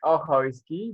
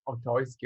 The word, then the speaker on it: Ochojski: I'm Ochojski, but yeah, everyone is pronouncing like Ochojski or something like that.